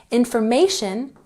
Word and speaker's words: information: Information has the emphasis on the third syllable.